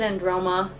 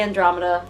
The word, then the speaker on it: Androma: I'm gonna pronounce it Androma. I always want to say Andromeda, but the first in the Androma saga.